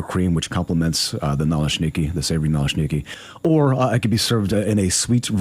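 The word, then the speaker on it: naleśniki: Maybe Antoine, you can tell me what a Nalashniki is. Am I pronouncing that right? Yes. Uh Nalashnneiki.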